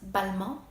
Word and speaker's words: Balmain: known as Simeon we also have Balmain also pronounced but mo one that I almost forgot is Jean Paul